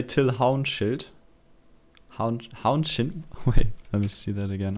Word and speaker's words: Till Haunschild: audience here's the inventive till houston wait did i pronounce it wrong in germany what we would say till hound shield let me see that